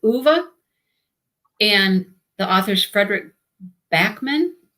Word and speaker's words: Ove: It looks like Ove. It's O-V-E, but I hear everybody pronouncing it Uwe.